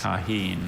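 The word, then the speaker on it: Tajín: Taheen. May I have the pronunciation?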